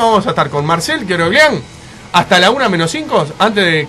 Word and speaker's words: Keoroglian: Lo pronunciamos bien. Queroglián. Queroglián.